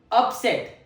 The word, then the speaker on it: upset: The first pronunciation, upset. The first syllable is stressed on.